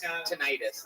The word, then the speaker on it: tinnitus: Tinnitus is actually how that's pronounced.